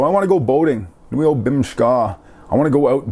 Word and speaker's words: bimishkaa: Bimishkaa. I want to go out boating. Long story short, a word you can use for boating is bimishkaa, or bimishkaa as we pronounce it around here.